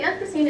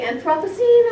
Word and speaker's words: Anthropocene: One thing about the Anthropocene is that there's no set agreement on how it's pronounced. Spell check doesn't like it. I say Anthropocene or I say Anthropocene, tomato, tomato.